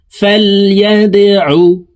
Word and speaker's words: فليدعو: خاطئة ناصية كاذبة خاطئة فليدعو দাল কলকলার হরফ নিচের দিকে ধাবিত করে ধাক্কা দিয়ে উচ্চারণ করব।